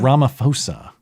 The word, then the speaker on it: Ramaphosa: Ramaphosa.